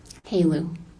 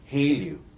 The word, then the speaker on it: HALEU: How do you say H-E-L-E-U? Haleu. Haleu.